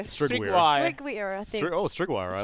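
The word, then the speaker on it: Strygwyr: Have you ever tried to pronounce Bloodseeker's name? Now Oh, that's a mouthful. his was Something 2-2. it's not Stygian. You It's know, like, it's like Stwigger. hang on, let me see it. Strigweir.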